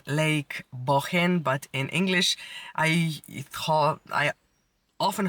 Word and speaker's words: Bohinj: It's called Lake Bohin, but in English, I often heard it pronounced Lake Bohinj.